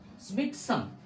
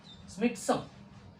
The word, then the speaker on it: Tsimtsum: T is silent, like it's tsunami.